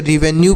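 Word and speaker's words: revenue: याद रखिएगा नेक्स्ट देखिए आर ई वी ई एन यू ई तो इसे क्या पढ़ेंगे देखिए तो आर से र और ई से छोटी ई की मात्रा वी से व ई से एक ही मात्रा एन से न आधा न और यू ई से पढ़ेंगे यू तो इसे रिवेन्यू पढ़ेंगे क्या पढ़ेंगे इसे रिवेन्यू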